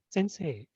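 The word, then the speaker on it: 先生: And sensei, the accent on the second say.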